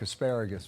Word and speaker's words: Geragos: This case is going to go on for a while, and we'll bring back Mark Asparagus very soon. Yeah, rhymes with asparagus.